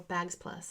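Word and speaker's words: Bagz Plus: This bag is a Bagsy Plus bag, or Bags Plus as we say, but it's spelled Bag Z Plus.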